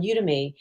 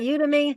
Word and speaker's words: Udemy: We created a course on Udemy that takes people through the Is that how book. you pronounce it? Udemy? Yeah, We always say people do Udemy. it both ways.